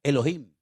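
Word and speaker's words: אֱלֹהִים: Y el primer nombre que conocemos de Dios, si empezamos a leer la Biblia desde el principio, es un nombre que se pronuncia Elohim.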